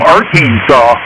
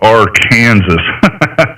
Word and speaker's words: Arkansas: I worked with a guy who was officially from Aransaw and he would correct anybody that pronounced it different. Yeah, I call it R Kansas.